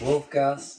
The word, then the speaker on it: Wulf Gas: How do you pronounce wolf gas? Just wolf gas.